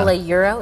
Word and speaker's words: Galliuro: Galliuro, is that how you say it?